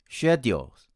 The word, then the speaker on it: schedule: on the first syllable our fourth word is s-c-h-e-d-u-l-e my friends from india tend to pronounce it as schedules while my american friends pronounce it as schedule schedule there are four differences